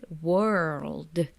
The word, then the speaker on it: world: difficult for us then this combination of R plus uh L right world and then it ends with d lots and it can